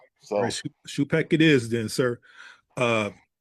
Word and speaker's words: Schoopack: So Shupek it is then, sir.